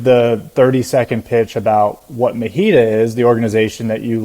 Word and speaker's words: MHEDA: You know, it could be anything you want, but we pronounce it MHEDA. MHEDA.